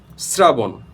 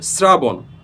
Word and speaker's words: শ্রাবণ: অথবা থ যুক্ত থাকে তাহলে কিন্তু সেখানে এস এর উচ্চারণটা আসবে যেমন স্নেহ স্নেহ দন্তস